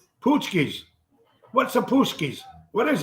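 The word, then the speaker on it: pączki: also fat tuesday it's poosky pootsky is that how you pronounce it p-a-c-p-a-c-z-k-i it's actually sounds like pesky poochies what's a puskies what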